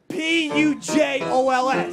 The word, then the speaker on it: Pujols: It's spelled P-U-J-O-L-S, that's right?